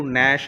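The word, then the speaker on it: gnash: नाउ तो य देखिए the letter ji is silent in the highlighted words य जो हाइलाइटेड वर्ड्स है ग्रीन कलर के इनके अंदर जी साइलेंट है दोनों में हमने इसको पढ़ा नश है ना जी को साइलेंट करके पढ़ा जी हमने रीड नहीं किया और इसको हमने रीड किया न है ना इसमें भी जी साइलेंट किया नाउ लिसन टू एंड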